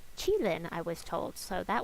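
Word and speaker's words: Qilin: uh on the trip keelan it's actually per pronounced chilin i was told so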